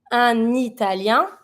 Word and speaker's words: italien: Un italien, here italien, Italian, starts with a vowel, so I link with the N from un. Un italien, une italienne.